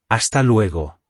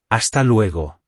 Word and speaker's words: Hasta luego: you later, which is Hasta luego. Let's hear it again. Hasta luego. Remember that the letter H is silent in Spanish and the letter U makes an oo sound. Hasta luego.